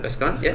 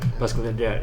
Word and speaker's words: Basculante: I mean, obviously, Cartier, some of Cartier watches are influenced by other brands as well, like the Basculante, is that how you pronounce it? Basculante, yeah, Basculante, that's from Reverso, right?